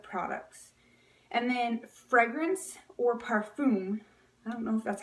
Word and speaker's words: parfum: a lot of products and then fragrance or parfum that's how you say it but par Veet